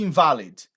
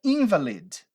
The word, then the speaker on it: invalid: Quando você muda a pronúncia dessa palavra aí para invalid, olha que diferente essa pronúncia. Invalid, você está falando de uma pessoa inválida.